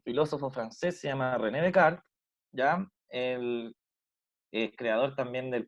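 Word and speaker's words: Descartes: que hay lobos entre paréntesis y cómo se pronuncia de un filósofo francés se llama rené de kart es creador también en el plano cartesiano en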